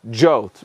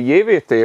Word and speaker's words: JWT: the protocol and then we have jolt it it says you need to pronounce it yeah it sounds ridiculous in hungarian uh we say yeviti or yi vaviti if we are from elta and this one builds